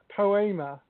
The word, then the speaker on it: Poema: Yeah, and my podcast is called Poema, and it's spelt poem with an A on the end, by the way, just to clarify that. So write poem and then put an A on the end of it, and that's what my podcast is called.